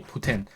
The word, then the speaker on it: poutine: say poutine, but it's meant to be Putin, like the leader of Russia.